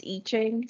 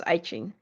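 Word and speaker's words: I Ching: people pronounce it as eachine some some people pronounce it as iching okay all right this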